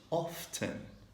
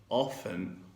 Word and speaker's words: often: Again, if you do something 50% of your time, we say often or often. So you have to choose between T, pronouncing T, or no T, often or often, which means sometimes yes and sometimes no.